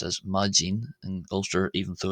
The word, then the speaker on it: maidin: accent uh the word for morning there is pronounced as majin in golster even though it's spelled majin.